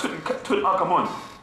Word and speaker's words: Tutankhamun: Tut, Ankh, Amun. You bastards. But you want to say Tutankhamun. Come on. How do you not pronounce the Ankh or the Amun in the name?